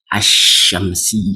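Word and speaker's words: الشمس: attached to that now the Lam of the alifam will be silent in pronunciation example you can see the exle now if alifam attach toamsi it what asamsi you see I'm not sayingamsi that's wrong i'm not saying al shamsiah like this one I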